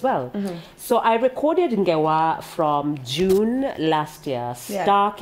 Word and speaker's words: Ngewa: And Ngewa, this is your EP. Yes. Six tracks. Yeah, talk to us about that. Ngewa, I'm sure it means stories. It means stories. Actually, it's pronounced as Ngewa.